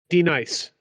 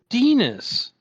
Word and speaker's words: Denis: Sure, D-nice. It's Dennis. DENIS is Dennis.